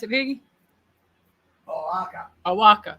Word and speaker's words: Oaxaca: It is Awaka. Is that how you pronounce it, Piggy? Oaxaca.